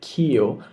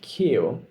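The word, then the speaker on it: queue: So please say the correct pronunciation of the word Q like the letter Q, okay? Like the letter Q and see the spelling Q U E U E Q, okay? Q As part of a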